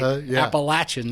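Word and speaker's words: Appalachian: college at what school appalachin state that's right appalachin St appalachin state right yeah you learn how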